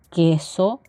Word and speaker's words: queso: pelota q queso tequila sólo se utiliza cuando existe el dígrafo con y más acompañado de una e iu y el sonido será sin embargo no vamos a pronunciar la uv es decir sonará tal cual queso tequila r ratón rojo en